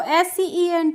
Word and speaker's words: scent: तो SCENT है, तो यहाँ पे देखिए इन सभी वर्ड्स में सी दी गई है और यहाँ पे जो सी दी है उसका हमें उच्चारण नहीं करना है, ठीक है।